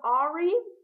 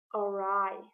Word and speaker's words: awry: Instead of Ari, it is awry.